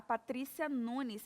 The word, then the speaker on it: Patrícia Nunes: Empresária, a Patrícia Nunes. É assim mesmo a pronúncia do seu nome?